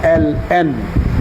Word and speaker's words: ln: আবার এটাকে লন পড়তে যাই না, এটার মুখ দিয়ে উচ্চারণ করতে হবে LN।